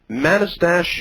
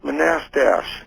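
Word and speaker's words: Manastash: do you know where madistash yeah it's pronounced monastash figures monastery oh it's not too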